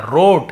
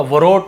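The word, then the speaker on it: wrote: यहां पे आप देखिए डब्लू यहां पे सैलेंट होता है रोट ऐसे लिखेंगे है ना लेकिन डब्लू का वरोट व नहीं पढ़ना है हमको ऐसे राइट होता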